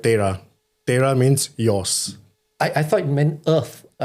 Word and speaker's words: Tera: So Tera is how we pronounce it in English, but in Punjabi you call it Tera.